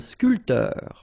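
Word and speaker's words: sculpteur: not that difficult and scul and sportif a a photo a journalist all right so a ban and scul same thing here this P here is not pronounced so scoter scul sportif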